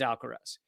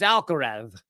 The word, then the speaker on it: Alcaraz: Almost everybody, including all the announcers, pronounce his name as Alcaraz. He pronounces his name as Alcaraz, right? Because it's the what is it? What's the term for the when Spanish has the th sound?